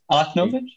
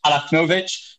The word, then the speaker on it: Alachnovič: Is that how I pronounce it? Alachnovič? Exactly. Okay, Alachnovič, who is Sviatlana Tsikhanouskaya's